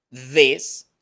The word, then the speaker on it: this: Enseguida tenemos este sonido interdental para this, con I corta y una S. La S sí existe en español. This, new.